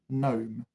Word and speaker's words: gnome: Gnome. The G is silent.